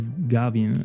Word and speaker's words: Gavin: So I don't know might be that like I pronounced it gave but it is Gavin.